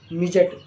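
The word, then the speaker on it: midget: ब्रिज यानी पुल एम आई डी जीई टी मिजट यानी बोना तो तीनों वर्डों को अगर आप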